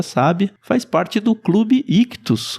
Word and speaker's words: ICHTHUS: Lembrando que Ictus se escreve ICHTHUS.